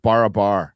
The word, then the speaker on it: Barabar: on Uncharted x uh bar say it right barabar bar yeah I went there I went to